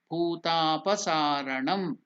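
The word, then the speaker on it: bhutapasaranam: Now here bhu is mahaprana, bhu ta, it is 2 units, so it is called dirgha.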